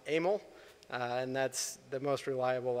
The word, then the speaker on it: Emil: Either way, what I'm told is his first name was pronounced Emil.